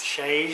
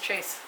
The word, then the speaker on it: chaise: Chaise. Chaise? Chaise. I thought they were just chase. Chaise.